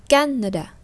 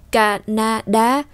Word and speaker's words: Canada: Chúng ta không đọc là Canada, không đọc như thế, đọc là Canada. Với ba cái âm tiết mà chúng ta nghe được giống như là tiếng chúng ta vỗ tay, chúng ta vỗ ba tiếng thì nó to như